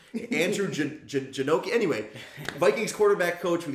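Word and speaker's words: Janocko: I can't think of his Janecki? Something like that. I'll look it up. I can never remember the pronunciation.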